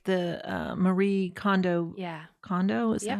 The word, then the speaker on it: Kondo: Kondo, is that Yep.